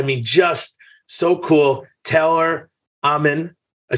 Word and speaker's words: Amann: Taylor Amann. I said it right? Amann, yep.